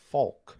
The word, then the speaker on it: Faulk: Faulk or Faulk? Like Marshall Faulk? Folk Faulk. I'm asking. What am I? What am I saying? You said Beep that out. I was a little concerned about the FCC coming for us. Faulk. Folk. Folk. Yeah.